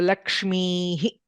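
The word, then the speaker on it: लक्ष्मीः: There is a visarga. So Lakshmihi.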